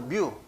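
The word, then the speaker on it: μ: 여기에 모집단에서는 모집단의 평균을 이렇게 뮤라고 읽습니다. U도 아니고 뮤.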